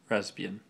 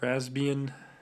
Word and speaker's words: Raspbian: this holds raspbian testing raspbian i keep pronouncing the p the raspbian testing um